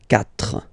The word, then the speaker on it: quatre: So you get this Q, U, A, but then the sound that you will pronounce is K, okay? Quatre, quatre.